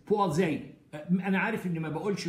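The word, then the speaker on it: Poiseuille: مدرسه فرنسيه فقالها لي، انا طلعت منها ان حاجه في اخرها زي المدرسي بوازي.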